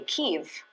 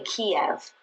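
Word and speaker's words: Kyiv: read which signs say keev which is how the ukrainians pronounce the name of their Capital most people say Kev but that's sort of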